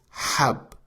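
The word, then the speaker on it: حب: The first word is hab with Ha, which means pill.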